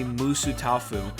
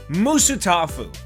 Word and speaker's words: Musutafu: website I was sent, it's pronounced in three syllables.